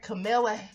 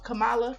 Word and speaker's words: Kamala: landmark we are seeing senator camilla ain't that how you pronounce the name kamala it looked like camilla but girl i know